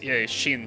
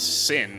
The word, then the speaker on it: Sin: And Shin here, I thought his name was, yeah, I think I pronounced his name as Shin until now, but on the Fire Emblem wiki, his name is Sin, I think.